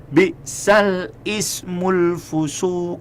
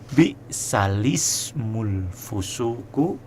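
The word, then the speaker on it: بئس الاسم الفسوق: itu bacaan keliru ya Misalnya kita baca gini ul fusu salah yang benar adalah balismul fusuqu b'dal Iman inilah yang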